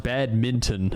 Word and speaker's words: badminton: It's pronounced badminton. I'm sorry. I'm sorry. I didn't pronounce the mints correctly.